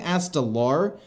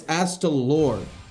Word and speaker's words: Astalor: I keep pronouncing it wrong. I keep saying Astalar, but it's Astalor.